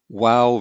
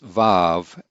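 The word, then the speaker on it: וָו: find in older grammars vav is the modern israeli pronunciation and so you'll often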